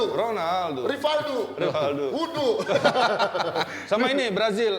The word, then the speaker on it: Ronaldo: O baca U kalau di Brazil. Ronaldo.